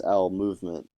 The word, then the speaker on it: Owl Movement: It's interesting because the name for music that I just settled on is Owl Movement, but I never. Owl movement? Yeah, because it rhymes with bowel movement.